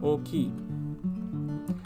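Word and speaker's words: おおきい: it means big and when used by itself it would be oki now i do have to point out that o ki when you put an o ki it's a lengthened o in the beginning but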